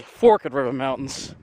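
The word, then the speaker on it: Forked River: Oh, excuse me, Fork River Mountains. That's how they pronounce it up here.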